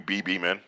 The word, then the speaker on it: Bhiman: and press releases but I have a funny name I have like a silent H twice in my name yeah yeah yeah you're personally named you BB man yeah that was like